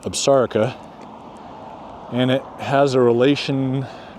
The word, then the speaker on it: Absaroka: Despite the power lines there, you can see the Absarica Mountains there. A lot of people make the mistake, including myself when I first got here, referring to them as Absarokas, but it's pronounced Absarica, and it has a relation to somehow to